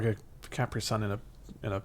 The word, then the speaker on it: Capri: didn't understood that Capri is a place that's pronounced that that's supposed to be Capri probably is yeah Capri is a why do we say cpri I don't know we're English stuff like that